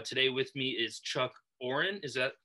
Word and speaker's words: Aurin: interview series uh today with me is chuck oren is that how you pronounce it oren that's it all right fantastic so chuck plays